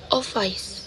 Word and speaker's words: office: And the first syllable on the word office. So, office.